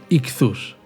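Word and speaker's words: ἰχθύς: el pez en griego se escribe así, y se lee ichthus, y viene a ser el acróstico de la siguiente declaración de fe.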